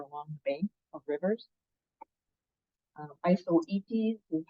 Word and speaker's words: Isoetes: Isoetes is how you say that.